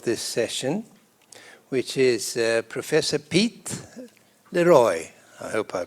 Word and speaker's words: Piet Leroy: My name is Piet Leroy. You pronounce it in the French way.